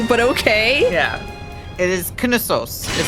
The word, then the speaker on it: Knossos: Like, the emphasis is on a different syllable than you would think it would be. It's not Knossos, it's Knossos. Like, the sos part is the emphasis.